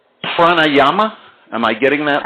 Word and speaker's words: Pranayama: English language butchered, but I guess it's called Pranayama. Am I getting that right? Yoga breathing? Pretty good. Yeah, Pranayama.